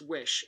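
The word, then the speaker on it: Oysi: frames it's spelled o y si but it's pronounced wish and I bought them directly from wish the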